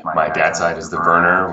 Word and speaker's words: Verner: And my dad's side is the Verner, which is originally spelled with a W as Werner.